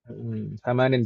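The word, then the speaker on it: ثمانٍ: Thamanin bacanya. Bukan sama nun, tapi thamanin.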